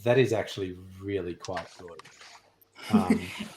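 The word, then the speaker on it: Golode: his surname is literally it's spelled g o l o d e yeah but it's just pronounced good yeah and everyone's like oh do you have a surname and he's like yeah good and they're like we're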